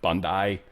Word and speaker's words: Bondi: Apparently that's how they pronounce it. I finally heard somebody say it. Bondi. Go Aussies.